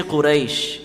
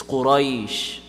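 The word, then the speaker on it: قريش: Ra mutaharrik, the rules of ra mutaharrik is if it has a fatha or dhamma on top, it's going to be full mouth. Kasra is going to be empty mouth. So you can't say Quraysh. It's not Quraysh. It's Quraysh. You see what I'm doing there? Quraysh, not Quraysh.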